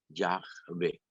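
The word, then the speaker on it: Yahvé: simplemente una barbaridad entonces leer Jehová es una mala pronunciación de Ya ve Ok que significa yo soy el que es Ya ve este y que es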